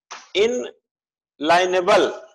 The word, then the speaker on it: inalienable: इनलाइनेबल, इनलाइनेबल बोल सकते। इसकी स्पेलिंग होगी INALIENABLE, अप्रतिदेय मानी गई।